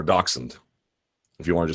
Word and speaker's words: dachshund: I don't speak German my understanding of it is dachshund do you have a dachshund or dachshund if you wanted to